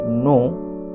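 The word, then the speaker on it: knee: কে N double E কেটা silent থাকে বা কে উচ্চারণ হয় না এন এর জন্য যন্ত্রণ্য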